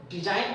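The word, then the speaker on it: design: जहां पे देखो यहाँ पे यानी कि एन से पहले जी है तो यहाँ पे हम डिजाइन पढ़ेंगे, जी जी के उच्चारण यहाँ पे नहीं होता है।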